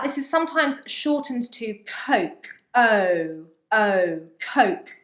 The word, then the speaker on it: Coke: O as in phone. Tone. Exactly. Yeah. So it's an O, it's a diphthong. Yeah. So your mouth has to move to make the sound O. Phone. O. Exactly. Yeah. Now, if you don't move your mouth with this sound, and if you make an oh sound, okay, like clock, then you are going to